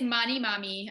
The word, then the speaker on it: Manimami: how to pronounce it but um it is money mommy um and yeah it's